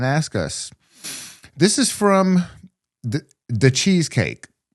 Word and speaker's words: DaChezKake: This is from the Cheesecake. Pronounced like the cheesecake. Yeah. On Discord. It's cool. It's spelled DACHEZKAKE.